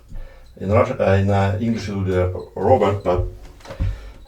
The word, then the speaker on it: Robert: In English it would be Robert, but I think it's Robert.